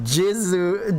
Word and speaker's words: Ziz: in Japanese because they the Japanese don't have Z I so there's no Z. Their Z is G ji. After this whole thing with how they extracted my seed and then Ziz's name being pronounced Jizu Jizu in Japanese, it's like, oh god, Nik, why?